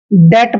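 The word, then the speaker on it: debt: से की मात्रा और टी से ट डेट पढ़ेंगे इसको डेप्ट नहीं पढ़ना है डेट डेट मींस होता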